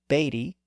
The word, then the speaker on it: Beatty: So these names are also exceptions where the EA spelling is still pronounced as A. These Irish names include Shea, S-H-E-A, Beatty, B-E-A-T-T-Y, Yeats, Y-E-A-T-S, Seamus, S-E-A-M-U-S, and Reagan, R-E-A-G-A-N.